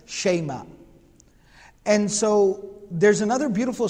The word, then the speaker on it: Shayma: The name of this particular sister of the Prophet ﷺ is Ashayma. Ashayma. That's how it's normally pronounced. It can also be pronounced Shima. But the Arabs would usually pronounce it as Shayma.